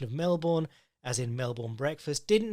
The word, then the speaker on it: Melbourne: I love your work but please do not pronounce it Melbourne like some yank the connect the correct pronunciation is Melbourne on a side note t2t was originally founded